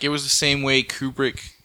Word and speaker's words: Kubrick: If you look at it, like it was the same way Kubrick. Like did you ever see the? I said his name wrong, didn't I?